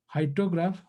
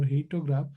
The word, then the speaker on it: hyetograph: Hyetograph or heatograph, or whichever way you can pronounce, means how much rainfall receive at different time.